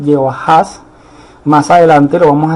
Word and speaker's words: Jehoahaz: Esa es la manera como se pronuncia Joacás en el hebreo, se pronuncia así, Jehoahaz.